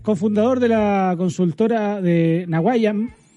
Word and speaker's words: Nawaiam: de la consultora de Naguayam. Así se pronuncia, ¿no? ¿Qué tal, Horacio? ¿Cómo estás? Buenas noches. Hola, Julio. ¿Qué tal? Buenas noches. Sí, está muy bien pronunciado. Naguayam.